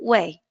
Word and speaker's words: weigh: So the pronunciation is here, I will not pronounce the G and H like in wait. I will simply say to weigh.